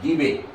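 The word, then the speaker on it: debye: It is pronounced as debate.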